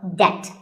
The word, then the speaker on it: debt: The B is silent in this word, so debt.